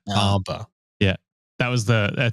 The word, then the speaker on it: Bomba: I just heard Boba I think I even pronounced that wrong it's SAR bom bom yeah bomba yeah that was the